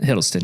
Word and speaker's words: Hiddleston: Hiddleston, yeah.